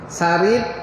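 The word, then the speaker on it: ثريد: Sarid ejaan dia saroyadal. Sarid. Saroyadal. Huruf sa.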